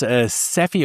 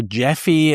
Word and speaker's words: Gephi: The tool that GE is using here is Sephi or Jeffy. Uh I think that's uh sort of probably how it's being pronounced.